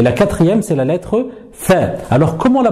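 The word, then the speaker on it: ف: Alors pour la prononcer, il faut prendre l'extrémité de la langue et venir la poser sur l'extrémité, ici, des incisives supérieures.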